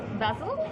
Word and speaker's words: Basil: Basil. Basil. Oh, okay. Like the herb.